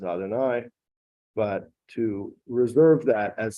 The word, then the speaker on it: Adonai: that's spelled yud kovke normally in prayer or when we read the Torah we pronounce it as Adonai but to reserve that